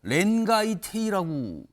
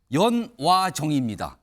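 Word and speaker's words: 煉瓦亭: 곳에서 열리는가 화면 보겠습니다 이 식당의 이름이요 렌가이테이라고 돼 있어요 일본 발행이잖아요 이게 한자로 되어 있는데 우리 발음으로 읽으면 연와정입니다 연와정 내부는 이런 모습이라고요 여기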